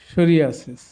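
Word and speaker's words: psoriasis: আমাদের খেয়াল রাখতে হবে যদি পিএস থাকে মানে ওয়ার্ডের শুরুতে যেমন সাইকো এই পির উচ্চারণ হচ্ছে না সাইকি পির উচ্চারণ হচ্ছে না সাম সরা সরিক সরিয়াসিস সিউডোমিন সিউডোনিম এবার অর্থগুলো সাইকো মিন্স মন সাইকি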